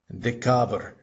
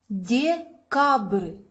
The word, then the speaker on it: Декабрь: Notice the difference between this is a real B, and this is something called the soft sign. It's not pronounced at all.